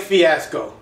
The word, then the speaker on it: Fiasco: good winner fiasco rhymes with tabasco what's what's my tabasco